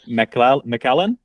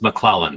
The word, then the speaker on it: MacLellan: And I want to introduce Steve MacLellan. Did I pronounce that right? In the East Coast, MacLellan, but anywhere else, you nailed it just perfectly.